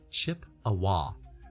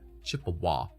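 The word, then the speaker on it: Chippewa: And it's pronounced chip awa. Chip awah.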